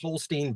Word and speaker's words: Holstein: I've heard his name pronounced Holstein by people who talk to Eli Holstein. So I'm assuming they're getting it right.